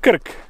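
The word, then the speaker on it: Krk: try to pronounce it it is pronounced Kirk just simply Kirk and for a long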